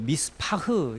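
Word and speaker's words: מִשְׂפָּח: 7절에 이 포악이라는 이 단어는 이 히브리어 발음으로는 그 미스파흐 이렇게 이제 발음하는데 이게 피를 흘린다는 뜻이거든요. 피를 흘린다. 근데 흥미롭게도 이 미스파흐 이것은 공평이라는, 이 피를 흘리라는 이게 부정적인 표현이잖아요.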